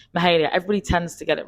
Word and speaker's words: Mahalia: Did I pronounce it right? It's Mahalia.